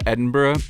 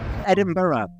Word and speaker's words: Edinburgh: Edinburgh, to kind of make two syllables out of the burr at the end, because the word burr in Scotland is usually pronounced as burra.